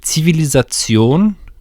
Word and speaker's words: Zivilisation: Zivilisation, just to use the German pronunciation, civilization is when the great culture has